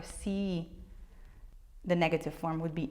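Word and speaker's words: sii: Yes, you do have a double I at the end and you have to pronounce both I's. Tu si. Can you hear it? It goes a little bit longer. Si.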